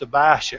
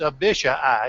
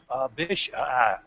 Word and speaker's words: Abishai: Notice that Abishai, and oh, how I wish that was just Abishai or something like that. But it's Abishai. It's 4 syllables. Abishai.